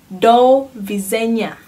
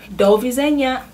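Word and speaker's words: do widzenia: you say goodbye oh yeah goodbye you say dou V zhenya Dovie zhenya it's goodbye so usually how do you use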